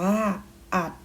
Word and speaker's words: อรรถ: กรรม วรรค อ่าน ว่า วัด อรรถ อัน ว่า อัด มี การ อ่าน คำ ร หัน ที่ มี